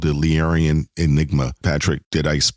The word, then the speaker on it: Illyrian: coming out with a comic book called The Illyrian Enigma. Patrick, did I pronounce that? Illyrian. Illyrian?